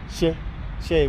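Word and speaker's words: 蛇: She with the rising intonation.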